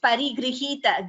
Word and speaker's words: परिगृहीत: It is just Parigrihita. Gr is a Gunitaksharam. It is not a Sanyuktaksharam. Gunitaksharam means G plus R, Gr, that's all. Like Griham. There is no Parigrihita. Parigrihita. Please note that pronunciation.